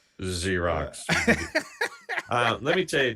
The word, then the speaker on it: Xerox: correctly point out that I said Xerox, which starts with an X and Z is the 3rd letter. So yeah, but it's pronounced Xerox.